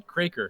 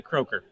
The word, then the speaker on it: Kroeker: pronounce your last name well in Winnipeg they pronounced the cracker because 300 years ago there was an umlaut but on the west coast they say croaker this is that so